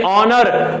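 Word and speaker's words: honour: ही हम लिख देंगे ऑनर, तो वहां पे यच साइलेंट होता है यानी ऑनर।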